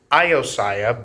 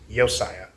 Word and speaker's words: Josiah: So it looks like it would pronounce Iosiah, but it's just Yosiah.